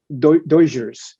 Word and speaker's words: Dodgers: So it's, in order to pronounce Dodgers, a majority like Spanish speaking person is going to say Doyers.